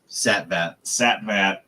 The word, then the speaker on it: Satvat: Let me see. Amir Satvat. Satvat. That's how you say it in Oklahoma.